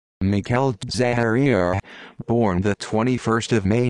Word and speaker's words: Michele Zagaria: michelle zagaria italian pronunciation mikhail zaharia born the 21st of may 1958 is an